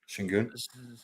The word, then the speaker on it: Şengün: Thompson's played great, and they got that good young Şengün. That's how it's pronounced. Yeah. I would say Sigurn, but I think it's Şengün or Sengun.